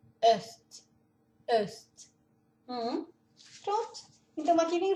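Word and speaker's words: Øst: E aqui é o Ost. Norte, sul, leste, oeste, né? Então, vocês dão pra ver. Eu só vou falar, pronunciar mais uma vez. Nur, West, Sur, Ost, Ost, Ost.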